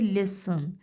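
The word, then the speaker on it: listen: लिसन में हमें टी की आवाज़ सुनाई नहीं देती, हमारे पास स के बाद अ की आवाज़ आ जाती है, लिसन. सो टी साइलेंट है, टी को हमने अंडरलाइन कर दिया कि टी की साउंड हमें सुनाई ही नहीं दी.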